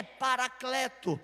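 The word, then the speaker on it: παράκλητος: vou enviar o consolador a pronúncia da palavra Consolador no seu original é parakleto esses ti algumas variantes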